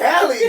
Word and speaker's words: Halle: Is it Hie or is it Haley? It's Hie.